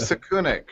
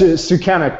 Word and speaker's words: Sukenik: actually very very nervous right okay so gave saku neck right and am i presenting that exactly right yes sukenik but i won't i won't fault you on